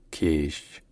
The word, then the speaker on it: Kish: Locally, in the Persian language, it's pronounced Kish.